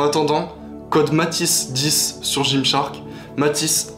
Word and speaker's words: Matis: Matisse, M-A-T-I-S 10. Donc il n'y a pas de H, il n'y a pas de T. Matisse, comme ça se prononce.